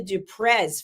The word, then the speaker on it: du Preez: It's a French surname. So yes, and your pronunciation is correct. The Z at the end, even though it's spelt with a Z, it's not pronounced with a Z.